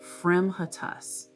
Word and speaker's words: fremitus: And one of my favorites is Fremitus, pronunciation, Fremitus.